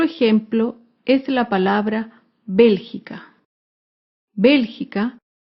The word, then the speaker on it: Bélgica: es la palabra Bélgica Bélgica se acentúa en la antepenúltima sílaba Bélgica por último otro ejemplo